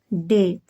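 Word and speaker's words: day: तो क्या हो गया डे। डी को डा पढ़ा जाएगा। ए को ए की मात्रा। बाई का उच्चारण नहीं होगा, बाई साइलेंट रहेगा। तो क्या होगा डे। डी ए बाई डे।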